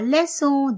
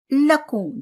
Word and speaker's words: leçon: La leçon. This is lesson in English. Okay? And if you're not putting this sign, then it will be what? Le lacon. That will be wrong.